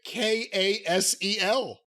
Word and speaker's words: Kasel: It's spelled differently, but it's Dalton, Kasel.